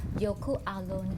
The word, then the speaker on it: Jökulsárlón: อังกฤษ แรง จริง ๆ จะ ออก เสียง ว่า youku Alone ค่ะ วิธี การ มา ก็ ง่าย มาก เลย